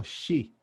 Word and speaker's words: chi: Lo de chi es porque es una letra griega, que es como una X, pero que se pronuncia así como chi.